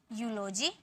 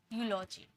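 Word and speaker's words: eulogy: इस तरीके से ज़्यादा नहीं होते, बस मैंने रूल बता दिया कि कहीं आप कंफ्यूज ना हो, इसे ई में प्रोनाउंस ना कर दो, ये यू में प्रोनाउंस होता है, यूरोप, यूलोजी, ठीक है।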